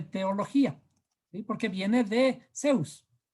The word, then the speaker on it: Zeus: Y entonces de Zeus, ustedes saben que cómo se pronuncia en español correctamente el Zeus. Nosotros le utilizamos directamente como una S, pero en realidad es más suave, es casi como una D, ¿no es cierto?